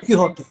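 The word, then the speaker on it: Quijote: ডন কুইজোট, যা স্প্যানিশ হচ্ছে ডন কিহোতে de la Mancha, কারণ QUIJOT লেখা হয়, উচ্চারণ কিহোতে।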